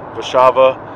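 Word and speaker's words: Warszawa: here in Poland previously doing the show and Rishabha a Warsaw to those in America who don't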